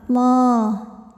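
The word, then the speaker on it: الله: Lam pada lafaz Allah atau lam jalalah dibunyikan secara tafkhim sebab huruf sebelumnya barisnya fathah, maka dibacanya tebal. Allah.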